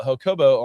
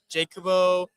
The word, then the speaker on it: Jacobo: Like most people call me Jacobo, Jacobo, Jakobi. I don't even know where they they get the e from.